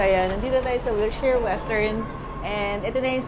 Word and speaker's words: Wilshire: Oh, hirap pronounce na Wilshire Western Wilshare Wilshare. Kinorrect ako nit Wherest pala. So ayan nandito na tayo sa Wilsher Western and ito na